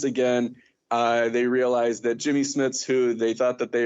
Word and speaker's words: Jimmy Smits: they introduce was it jimmy smith is that how we pronounce his name how do we pronounce it again jimmy jimmy smith yemi yummy it's jimmy smits to introduce him they